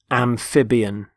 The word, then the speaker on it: amphibian: first word is amphibian amphibian notice the stress on the middle syllable amphib amphibian there are animals such